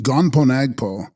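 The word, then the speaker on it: Gönpo Nagpo: into the sanssara text gonpo nagpo pronounced gonpagpo sanskrit kalanath commonly known in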